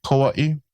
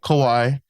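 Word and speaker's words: Kauaʻi: So just make sure you pronounce that Okina A very strongly. Oahu. The last two is Kawaii. One Kauaii. Kauaii. Yeah. And some people call it Kawaii.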